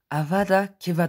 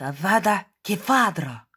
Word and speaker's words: Avada Kedavra: la casser donc voilà pour ceux qui disent havas d'akiva tendance avada kedavra prononcé bien la femme devra